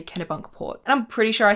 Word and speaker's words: Kennebunkport: I had to look up how to say Kennebunkport, and I'm pretty sure I said it right.